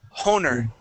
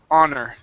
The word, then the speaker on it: honor: You would pronounce that H saying honer. Okay. The word is honor.